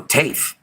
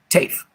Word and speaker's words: TAFE: Taft performance pronounced with a solid A. Oh, TAFE. Okay, TAFE.